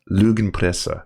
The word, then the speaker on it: Lügenpresse: Is it Lügenpresse or is it some? It's Lügenpresse. Lügenpresse. All right. So, but I know a lot of English speakers have like trouble with the R-A-E-U-U pronouncing. Oh, okay. Well, those ones. But like that's pretty close.